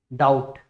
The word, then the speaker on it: doubt: नम, लिम, इसके बाद कैटकम, और उसके बाद डाउट, DOUBT, यहाँ पर भी बी जो है वो साइलेंट है।